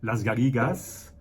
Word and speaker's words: Les Garrigues: Donc, ce Cervolas, qui a ce surnom des Garrigues, Las Garrigas, en catalan, mais ça s'écrit exactement pareil qu'en français.